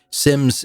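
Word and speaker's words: Symmes: And by the way, if you're looking this up, Sims is spelled S Y Mes.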